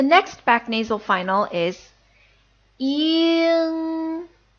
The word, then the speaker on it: ying: The next back nasal final is ying, ying. This is a little bit similar to the way the ing would sound in sing.